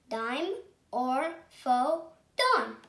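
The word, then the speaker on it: Dimorphodon: that i'm going to tell you how to pronounce it dime or faux tone timer photon and this answer was a tiny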